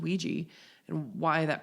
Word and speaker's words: Ouija: And I was like, growing up, we always heard it called Ouija, and why that pronunciation?